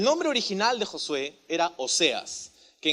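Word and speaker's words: Oseas: original de josué era óseas que en hebreo se pronuncia algo como ósea y esta palabra o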